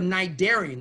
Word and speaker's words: cnidarian: If you're a cnidarian, the C is silent, or you're a ctenophorean,